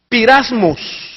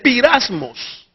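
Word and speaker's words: πειρασμός: Entonces, la palabra se escribe o se pronuncia pirasmos. Note usted, pirasmos.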